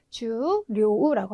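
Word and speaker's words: 重量: 그래서 장음으로 해서 네, 초가 아니라 주로 읽으셔야 되고 또 하나는 중량, 무게 같은 거 말할 때 쓰시는 중량은 주료우라고 하셔서 역시 여기도 주로 읽어주셔야 되겠습니다.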